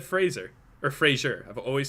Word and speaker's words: Fraser: mad at me because apparently i pronounced frasier wrong apparently it's fraser not sure not sure but i ca so now i'm being ripped on it's like it's fraser minton not frasier minton fraser i've always said